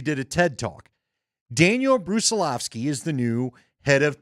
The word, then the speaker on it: Brusilovsky: All right, give me the pronunciation on this guy's name again. Brusilovsky, that, right? Yes. Okay, so Mark looked it up because he did a TED Talk. Daniel Brusilovsky is the new head